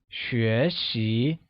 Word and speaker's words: 学习: To learn or to study becomes 学习, where 学习 is pronounced with a mid-rising tone on both E and I.